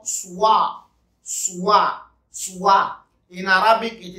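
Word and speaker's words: سواع: The second one is what they call Suwa. Suwa. Suwa. In Arabic, it is spelled Sin, Wa, Alif, and Hamza.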